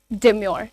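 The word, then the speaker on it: demure: हैं डेमो की म डेमोर ठीक है डेमोर अगेन आर को साउंड करना जरूरी नहीं है कराना जरूरी नहीं है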